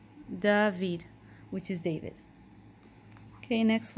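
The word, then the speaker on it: דוד: is David in English the way we pronounce it in Hebrew is dahveed dahveed which is David okay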